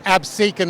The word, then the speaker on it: Absecon: It's Absecon Lighthouse.